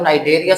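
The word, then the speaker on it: Cnidaria: Phylum Porifera, phylum नाइडेरिया सी silent है, उसके बाद phylum प्लेटीहेल्मिन्थेसिस, phylum निमाटोडा, phylum Mollusca, phylum Annelida, phylum arthropoda, phylum Echinodermata, phylum Chordata.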